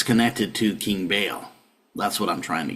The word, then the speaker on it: Baal: But it's connected to King Baal.